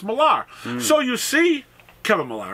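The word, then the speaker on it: Millar: automatically assume it's Milan don't realize that in another country that still speaks English that spells the English the same way too that malar is would be Miller which we would spell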